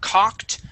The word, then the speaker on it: cocked: Okay, on the word cocked, make sure to pronounce that ED, that T sound. Cocked.